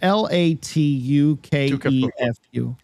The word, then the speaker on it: Latukefu: His last name is L A T U K E F U. I bet it's Latukefu.